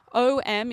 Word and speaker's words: Om: purpose so yeah m as om is simply A long slowly close the lips until it turns into m.